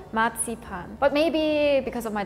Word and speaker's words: Marzipan: Do you want to try okay to pronounce it as German as possible? Would it be marzupan? Almost. The the last word was good. We say matsipan.